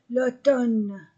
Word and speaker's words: automne: le printemps l'été l'automne je ne prononce pas la lettre M l'automne l'hiver l'hiver l'hiver le